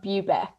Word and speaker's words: Bubeck: It's Bubeck. So Bubeck. Okay, I was pretty hi.